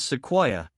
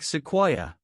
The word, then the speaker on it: Sequoyah: His Cherokee name was rendered in English as Sequoyah, though the exact pronunciation in Cherokee is something more like Sequoyah.